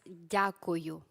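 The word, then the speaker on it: дякую: That's dyakuyu. Dyakuyu. Yes, perfect. Good. Dyakuyu.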